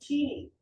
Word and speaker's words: Tinie: Tiny. Teeny. Teeny. Really small. Yeah. Yeah. No. Like that. Teeny. T E N. No, it's T I N I E. People always pronounce it tiny.